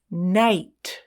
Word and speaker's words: night: I like Ice Nine night what letter is the vowel I is the vowel G and H are silent I i g h